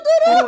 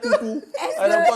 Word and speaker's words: Tourou: Au lieu de dire Tourou, là, j'entends Toutou.